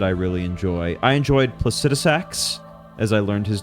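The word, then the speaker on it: Placidusax: what else did I really enjoy I enjoyed placetx as I learned his name is pronounced uh definitely the most enjoyable dragon fight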